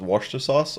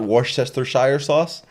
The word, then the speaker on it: Worcestershire sauce: time to to learn to that it was pronounced Worcester sauce or whatever and not Worchester Shire sauce is it not pronounced poor Chester Hsieh Worcestershire